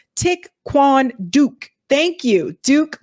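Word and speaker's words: Thích Quảng Đức: tried the name of the monk is pronounced tick Quan Duke thank you duke like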